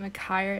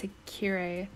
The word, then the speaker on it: Akire: And also, I was pronouncing his last name Akire, it's Akire.